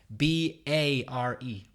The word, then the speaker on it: bare: pronounce the word I'll spell it for you be a re bear aha pronounced exactly the same as B EE AR